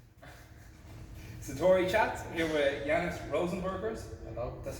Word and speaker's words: Rozenbergs: Satori chats here with Janis Rozenbergs. Hello. That's how you pronounce it properly.